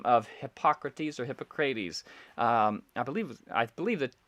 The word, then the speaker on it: Hippocrates: So Hippocrates, I believe, is the correct pronunciation, but Hippocrates is another way that his name is often pronounced.